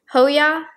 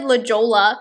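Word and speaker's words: La Jolla: right now i'm wearing the shade la ho hoya hoya hoya yeah i said lijola in the last video because they didn't even click to me like california spanish pronunciation anyways and then newport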